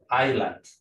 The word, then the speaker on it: island: Pero la letra muda en esta palabra es la letra S. Entonces se dice island, no island.